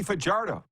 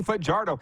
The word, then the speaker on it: Fajardo: And the host, the new Alex Trebek, mentioned Cody Fajardo. He even said it right. He didn't say Fajardo like so many people do.